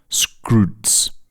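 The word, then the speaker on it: Skroutz: There's there's an online retailer in Greece which is basically the Greek Amazon which everyone uses called Scrooge although it's pronounced Scroos because they can't say they can't pronounce Scrooge properly.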